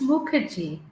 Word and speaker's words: Mukherjee: let me know if I said something pronounced it wrong and pronounce your last name for me. Yeah, it's Muki.